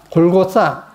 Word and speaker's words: 골고다: 자, 근데 이 골고다가 이 다의 디귿 발음이 세타입니다. 세타. 싸입니다. 그렇게 번역해, 발음해야 돼요. 실은. 싸. 골고싸. 이렇게 번역을 해야 됩니다. 그래서 여기 영어 발음도 그렇게 되어 있죠. THA. 그렇게 되지 않습니까? 골고싸. 해야 되는데. 그래서, 세타입니다. 세타. 쌍시옷. 골고싸. 이렇게 번역해야 됩니다.